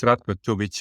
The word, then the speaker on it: Ratko Tubic: everybody, today we have a real special guest, Ratko Tubic, and you'll have to correct me if am I saying that right? Am I pronouncing your name correctly? Yeah, I mean, I'm used to it. It's Ratko Tubic in my language, but Tubic, I'm used to